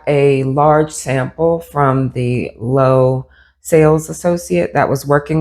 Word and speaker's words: Loewe: The brand is pronounced Loewe. I pronounced it Loewe throughout this video. However, it is a Spanish brand and it's pronounced Loewe.